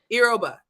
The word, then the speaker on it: Yoruba: Yoruba.